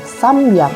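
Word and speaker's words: 三百: memiliki pengucapan yang berbeda untuk 300 kita menggunakan samyak u600 kita menggunakan Rocky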